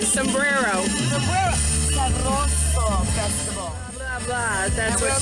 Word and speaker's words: Sabroso: Sabroso. I'm still geeking out over that one. You got to roll your R's like without the P.